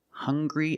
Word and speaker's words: hungry: Also, we have these two words, hungry and hunger. They also make the same sound with the nasal sound and the hard g.